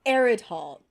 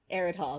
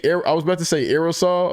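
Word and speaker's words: Aridhol: It's called Eridhall. Arid Hall.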